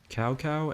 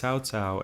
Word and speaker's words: Cao Cao: Cao Cao and Cao Pi. Cao Cao and Cao Pi are both mispronunciations of the names Cao Cao and Cao Pi, two of the most important characters in Dynasty Warriors.